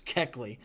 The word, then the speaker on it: Kuechly: I like Luke Kuechly. I think that's how you pronounce his name. I got blasted by the YouTube commenters. I said it wrong. It's Kuechly.